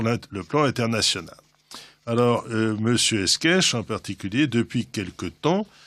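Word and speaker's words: Escaich: C'est un nom d'origine ariégeoise et qui s'écrit E-S-C-A-I-C-H, et ça se prononce Esquèche.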